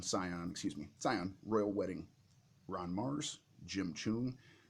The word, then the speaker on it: Scion: good it's a space opera science fiction okay see on Sion excuse me Sion Royal Wedding Ron Marz Jim Jim I always